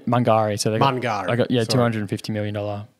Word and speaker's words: Mungari: They're doing a mill expansion at Gungari. Is that how you pronounce it? Yeah, I mean Mungari.